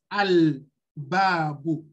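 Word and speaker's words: الباب: So when you have after the Alif Al-Lam, a Harf Qamariya coming like Ba, It doesn't take shadda. So you pronounce al-babu.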